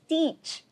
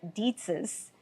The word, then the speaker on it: Dietsch: But I learned something today, and I'm so embarrassed to hear that I have been pronouncing the name wrong all these years. It is Dietsch, not Dietz's.